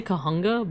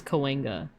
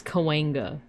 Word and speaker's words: Cahuenga: It's Cahuenga. I would pronounce that as Cahuenga with all the letters. Because it looks like it would be pronounced as like Cahuenga, right? But it's almost like a W sound.